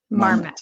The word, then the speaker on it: Marmet: pronounce it? Marmet. Marmet.